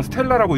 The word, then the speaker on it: STLA: 이름이 Stla 미디움인데 뭐 내부적으로는 STLA를 그냥 스텔라고 읽는 모양이에요.